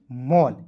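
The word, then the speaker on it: mall: टी A double L toll, B A double L बॉल, एम A double L मॉल।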